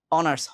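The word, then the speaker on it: honours: আওয়ার হাওয়ার বলি নাই অনার্স হনার্স বলি নাই অনেস্ট হনেস্ট বলি নাই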